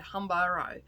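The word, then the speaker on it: Huambo: is a native to honbaro i think is how yeah humbero is how you pronounce it he currently resides in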